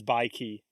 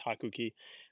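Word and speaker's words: 白起: He his name in real life is Bai Ki, but in Japanese it's Hakuki.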